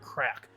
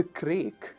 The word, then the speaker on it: craic: Now you pronounce that like crack, C-R-A-C-K, like the word crack.